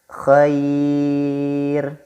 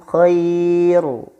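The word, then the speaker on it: خير: membacanya adalah tipis Hai contohnya adalah Khoir Khoir bukan Khoiru tapi Khoir dan yang kedua bodir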